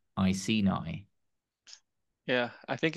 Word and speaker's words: Iceni: And then if I let Google pronounce it, Iceni. It says it's Iceni.